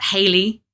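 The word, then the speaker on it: Heily: So, the idea is that Haley, uh, who is the color out of space, it's spelled H E I L Y, obviously, cuz she's she's a great old one.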